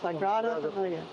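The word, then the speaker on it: Sagrada Família: Sagrada Familia, that's how you say it, Sagrada Familia.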